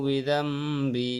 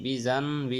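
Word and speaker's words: بذنبي: লাকা বিনি'মাতিকা আলাইয়া ওয়াবুউ বিযামবি, বিজানবি হবে না, বিজাম হবে। নুন সাকিনের পরে বা আসলে মিম দ্বারা পরিবর্তন করে পড়তে হয়।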